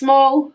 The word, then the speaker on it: Smol: So, it's Smol, as in the way you say it is the way you spell it.